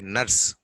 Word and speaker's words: nurse: R silent. I told you, unless R is followed by vowel, there should be a vowel after R. Then only R is pronounced. Otherwise, R is always silent.